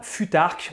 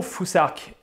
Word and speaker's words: futhark: Ensuite, la troisième rune du Fusark, que vous voyez ici, elle se prononce un peu comme l'anglais thing, on doit donc prononcer Fusark.